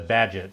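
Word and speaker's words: Bagehot: by an economist who knows how to pronounce the badget in the night budget program uh after walter badgett of course and i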